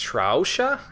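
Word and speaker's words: Sraosha: do persona 4 is I think it's pronounced trou huh it's SRO Sh a is how it's spelled it's kind of weird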